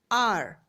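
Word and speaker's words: hour: We say R with a silent H as though it was spelled OUR.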